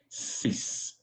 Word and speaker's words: six: say six in French six in French is very close to to English s sis it's sounding like all